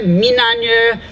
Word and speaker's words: minanya: person come from, and we came up with Minanya is the right way to say river.